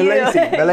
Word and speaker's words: Milacci: Milacci. Yes. Is that Italian? Yes, it is Italian, but we do not pronounce it in the Italian way, obviously.